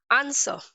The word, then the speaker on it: answer: Okay, answer, W is used with S and it is silent।